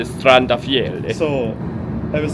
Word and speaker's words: Strandafjell: Strandafjell. Sounds more Norwegian if you say Strandafjell.